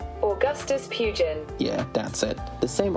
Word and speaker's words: Pugin: Let me check the pronunciation. Augustus Pugin.